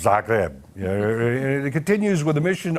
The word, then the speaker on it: Zagreb: Yeah, that's how it's pronounced, Zagreb.